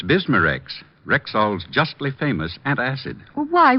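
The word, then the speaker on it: Bisma-Rex: have to remember that bismarex is that how you say it that's right ma'am b-i-s-m-a hyphen r-e-x bismarex ask for bismarcks at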